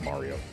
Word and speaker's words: Mario: N, it's Mario. It's always been Mario. Anyone who pronounces it anything other than Mario is just flatout wrong.